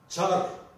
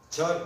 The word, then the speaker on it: çar: Vurgulu dediğimiz Ç harfi ağzımızdan çıktığında onunla birlikte bir tane daha H harfi çıkar. Yani H harfiyle beraber telaffuz edilir. Örneğin çar, yani 4 dediğimizde çar 4 demek. Çar dediğimiz zaman Ç ile beraber bir de H çıkar boğazımızdan. Çar sesiyle beraber söylenir. Çar olarak ağzımızdan çıkar. Yani çar diye yazılır. Aslında okunuşu çardır.